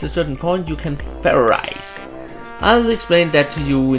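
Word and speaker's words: Fairize: It's pronounced ferrize! There's no ice in it!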